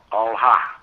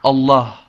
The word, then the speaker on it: Allah: We pronounce it like Allah. All. Yes. But we pronounce it like Allah.